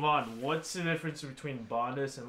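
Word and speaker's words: Bondhus: Bondus.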